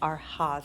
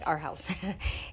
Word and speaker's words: Arhaus: the arhas our house I keep saying are hot because it's spelled a-r-h-a-u-s but I think it's pronounced our house and the Pottery Barn